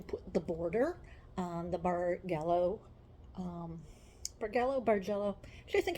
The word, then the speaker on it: bargello: are going to put the border on the bargallo um Bargo barello I think I looked it up it's bargello it's actually pronounced bargello um with a Hardy we're going to put